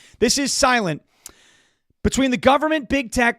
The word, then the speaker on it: SLNT: This is Silent. It's spelled SLNT, all right? This is Silent.